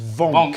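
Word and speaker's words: Wank: Vonk spelt W-A-N-K. Really? And there was a big note in his file saying pronounced Vonk.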